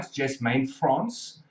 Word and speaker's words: Jasmane Frans: It's, if I've got the pronunciation right, Jasmane Frans.